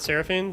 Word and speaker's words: Seraphine: Seraphine? That's how we say her name, right? Seraphine, like the League of Legends champion.